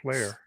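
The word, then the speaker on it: flayer: Yeah, I call it flare. What do you call it? Flare? It's flare, I think, isn't it? The way it's spelled. Huh. Yeah, Yeah. F-L-A-Y-E-R. Flare.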